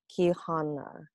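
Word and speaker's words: Quijana: centered around seventh grader ki hannah i think that's how you pronounce it q-u-i-j-a-n-a she is half guatemalan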